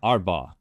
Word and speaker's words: Arbaugh: arbo arbo arbau yeah arbau yeah okay where where's that from yeah that's a great question um I've heard German I think it's German yeah and it's pronounced like that in German I no I don't